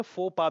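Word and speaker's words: faux pas: अब ये क्या लिखा है, डेजा वू, ये क्या है, फॉक्स पास, इसको हम लेटिन वर्ड में फोपा भी बोलते हैं, फॉक्स पास।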